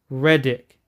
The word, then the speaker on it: Reddick: Reddick.